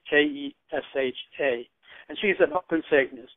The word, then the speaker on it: Kesha: There's a pop music girl named Keisha. I don't know if I'm pronouncing it right. It's Kesha.